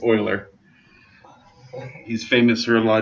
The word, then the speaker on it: Euler: to know who uh went to a math convention and called mueller because he didn't know how to pronounce it yep you better believe